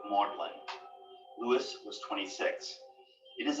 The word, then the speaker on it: Magdalen: here at modeling college named after mary magdalene but keeping its middle english pronunciation of maudlin lewis was 26.